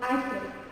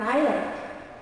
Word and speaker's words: island: S is not pronounced, thank you. It's not Iceland. It's an island.